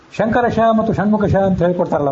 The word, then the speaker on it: ಶಂಕರ: ವ್ಯಾಕರಣ ಪುಸ್ತಕದಲ್ಲಿ ಎಲ್ಲಾದರೂ ತಾಲವ್ಯ ಶಕಾರ ಮೂರ್ಧನ್ಯ ಶಕಾರ ಅಂತ ನೀವು ಕೇಳಿದ್ರೆ ಅದು ಇದು ಈಗ ನೋಡ್ರಿ ಶಂಕರ ಶಂಕರ ಷಣ್ಮುಖ ನಾನು ಉಚ್ಚಾರಣೆ ಮಾಡೋದನ್ನ ಗಮನಿಸರಿ ಶಂಕರ ಇದು ಷಣ್ಮುಖ ಶಂಕರ ಶಿ ತಾಲುವಿನಿಂದ ಹುಟ್ಟಿದ ಶಕಾರ ಷಣ್ಮುಖ ಇದು ಮೂರ್ಧದಿಂದ ಹುಟ್ಟಿದ್ದು ಈಗ ಇವೆರಡು ವ್ಯತ್ಯಾಸ ಗೊತ್ತಿಲ್ದೆ